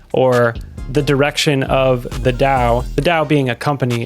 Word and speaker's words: DAO: what is a dow a dow pronounced Dao stands for decentralized autonomous